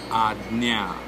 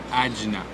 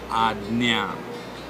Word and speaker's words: Ajna: Sixth, Ajna. Ajna. I've heard a lot of people saying Ajna. The J is not literally to be pronounced as J, but it is Ajna.